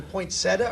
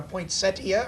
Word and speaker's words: poinsettia: pronunciation is it a poinsettia or a poinsettia or take your choice all good like tomorrow exactly there is is an eye there is an i in the word poinsettia would be the proper